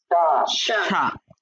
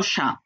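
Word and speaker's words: chat: Singular word এবং plural ওয়ার্ডের উচ্চারণ সেম। মানে সা সা সেম, সা সা না না, সেম শা, উপরেরটা শা বললাম, এটাও শা।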